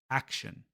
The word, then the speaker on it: action: But in English, we stress the first syllable. It's action, action.